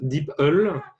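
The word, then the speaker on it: DeepL: nous a recommandé un autre traducteur qui s'appelle d'ipl dit pas comment prononce je connaissais pas du tout intéressant c'est le google google translate vous m'entendez la we wept donc ses apparats a priori ça se prononce d'ipl ouais ouais c'est meilleure qualité que google france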